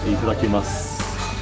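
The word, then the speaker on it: いただきます: Itadakimasu.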